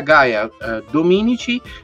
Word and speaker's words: Gaia Dominici: Gaia Dominici, direttamente dal Kenya. Allora, io mi chiamo Gaia Dominici, l'hai detto giusto, e l'accento era giusto, Gaia Dominici, ho 28 anni.